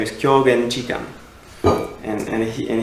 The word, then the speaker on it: Kyogen: My um favorite Zen ancestor um is in I know Japanese pronunciation because I live in Japan. He's from China. He's he his name is Kyogen Chan and and he